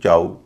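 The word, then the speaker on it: chow: सी एच ओ डब्ल्यू चाऊ हां डी ओ डब्ल्यू इसको गलत बोल सकता है।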